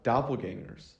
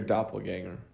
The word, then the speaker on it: doppelganger: doppelganger and you're like, is it ganger or doppelganger? What is it? Yeah, you said it right. It's doppelganger? Yeah. I feel like I'm saying it wrong. No, I think it's right.